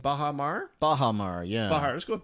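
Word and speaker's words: bajamar: Yes, it's actually pronounced Bahamar.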